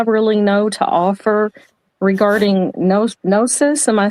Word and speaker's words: Gnosis: The only thing that I really know to offer regarding Gnosis, am I saying it correctly?